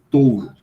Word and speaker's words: touro: Veja, você tem a palavra escrita T-O-U-R-O. Touro. Eu sempre pronuncio os ditongos. Mas eu não posso considerar errado alguém que diga touro, porque isso faz parte do espírito da língua.